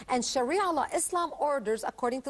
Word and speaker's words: Sharia: Okay, tell us a little bit about, how do you pronounce it? Sharia law? Sharia law? Sharia law.